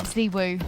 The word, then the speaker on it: ZywOo: Zywoo, whatever you want to call him.